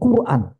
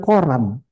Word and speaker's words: Quran: kita baca materinya baik Quran bukan qoran Quran di sana cara